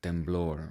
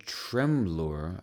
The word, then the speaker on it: temblor: A trembler on Saturday, temblor, right? She said tremblor. I think in Spanish it's temblor.